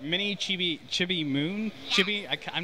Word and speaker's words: Chibi: Mini Chibi Moon?